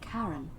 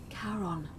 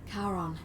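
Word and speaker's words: Charon: it's just as you described it only your pronunciation is a little off the name you heard wasn't karen it was c-h-a-r-o heron as in caron the ferryman of the dead karon who in exchange for the right coin helps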